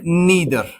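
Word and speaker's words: neither: और ये distributive pronounce क्या है? Each, right? ईदर एंड नीदर। आइदर और नाइदर भी आप पढ़ सकते हैं।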